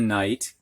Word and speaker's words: knight: there this kind of knight and by the way if i cut off the silent k that night is like day and night but this kind of